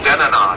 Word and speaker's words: Tanana: So the Tanana River is, actually it was originally pronounced Denana, D-E-N-A-N-A. And now it's spelled a little differently than that.